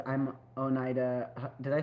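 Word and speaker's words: Oneida: A boy in a shopping cart says, "I'm Onida."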